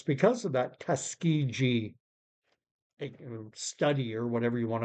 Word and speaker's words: Tuskegee: I've spoken on this channel before about the infamous Tuskegee. I think I'm pronouncing it right.